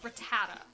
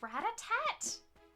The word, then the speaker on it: Rattata: I I know as a as a kid I always called it Ratat. There's not a T at the end, but I always called it Ratat. And so I I just keep calling it Ratat.